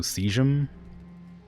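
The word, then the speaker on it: caesium: casium what do you how do you pronounce casium what seum cuz it's an A and an e like Eis so seum like excuse me for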